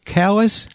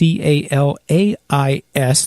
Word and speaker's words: Calais: The Second Baptist Church, get this, in Calais, Maine. That's Calais. Those of you who are French probably pronounce it Calais. Calais. She called it Calais, my friend Pat.